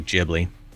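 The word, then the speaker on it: Ghibli: It's pronounced with a J. Gibli.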